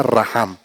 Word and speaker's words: racham: R-A-C-H-A-M, racham. Se pronuncia raham.